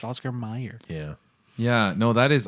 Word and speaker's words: Oscar Mayer: they think that what does the way it's pronounced Mike it's not mayor it's Oscar Mayer yeah yeah no that is odd though because